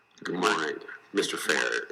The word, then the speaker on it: Fehr: Fehr, am I saying it correctly? Fehr is correct.